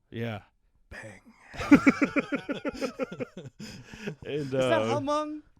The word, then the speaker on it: Hmong: Is it just Hmong? Yeah, I think the H is silent. Oh, that's I because thought you it was guys. Hmong.